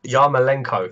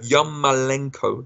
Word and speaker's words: Yarmolenko: I keep pronouncing this wrong because I keep mixing him up with a boxer, Lamachenko. I think it's Yarmolenko. Yarmolenko, there we go.